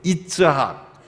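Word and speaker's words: יצחק: 이 이삭이라는 단어는 히브리어 이츠학, 원 발음은 이츠학, 그게 의성어예요.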